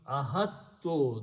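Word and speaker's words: أحطت: We are going to add a ta at the end, and this alif is just a sound, so we don't pronounce, we just drop that. So this becomes ahattu, that's the word in the Quran.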